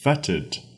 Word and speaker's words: fetid: i d it feted if you're British English feted will We spelled for you f o e t d feted same pronunciation feted means something similar to